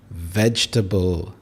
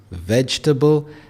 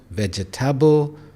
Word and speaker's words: vegetable: It is vegetable. We have 3 syllables, vegetable, and it's not vegetable, which is very common. So again, it's vegetable.